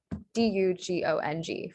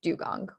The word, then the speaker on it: dugong: the u sound is spelled the u and u sound is spelled with the u um and so then we get the correct spelling that most people have guessed which is d-u-g-o-n-g for dugong or dugong all right